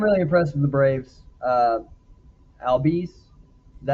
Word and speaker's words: Albies: Albies, is that how you say his name?